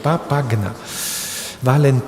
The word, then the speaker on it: Papagna: Valentina Papagna, pronunciando bien, Papagna.